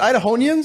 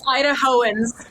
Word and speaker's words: Idahoans: Is it Idahonians? Is that correct? Is it Idahonians? How do you say it? That's a good word. I like the one. Idahonians. I was going to say Idahonians. It's Idahoans.